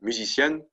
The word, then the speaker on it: musicienne: And yeah, you guessed it, it's pronounced the same as the one before. Right? Musicienne and musicienne.